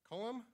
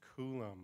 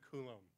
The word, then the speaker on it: Cullum: Cullum for the Warm Rise Floating Cloud Comforter. And I just asked her, it is Coulomb. I knew I mispronounced that. So Cullum.